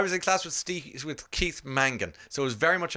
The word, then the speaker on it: Mangan: Mangan, hard N, hard G.